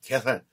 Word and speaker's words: 가야산: 제 가 어렸을 때 , 우리 는 개산 이라고 불러 , 개산 이라고 . 왜냐 하면 ' 가야 ' 를 제대로 발음 할 수 없어 요 맞아 요 , 다들 가 에산 이라고 불러 요 .